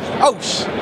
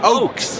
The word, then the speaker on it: Ochse: Ochse. Ochse. I see right? the CH, bro, in Mexican. I pronounce it the sh.